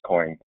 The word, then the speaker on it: Coyne: no no it's fine it's coin you pronounced it correctly um so regarding the